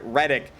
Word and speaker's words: Reddick: Jarrett Reddick, lead singer and guitarist of Bowling for Soup. Also, his name is spelled as it sounds, Red Dick.